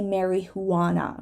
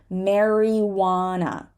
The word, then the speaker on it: marijuana: is a word with a silent J and this is marijuana we don't say Mary Juana right we say marijuana some people like to